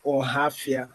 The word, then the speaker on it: Ohafia: Abia State, and my own village is Ohafia. I don't know if you can pronounce that rightly.